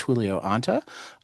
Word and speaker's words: Julio Anta: My returning guest today is Julio Ant. Um, did I pronounce that right?